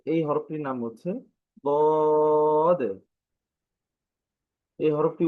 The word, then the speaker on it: ضاد: সেটি ছিল যে আমরা জিহ্বার কিনারা মাড়ির সাথে লাগিয়ে দাঁতের মাড়ির সাথে লাগিয়ে হরফটা উচ্চারণ হয়।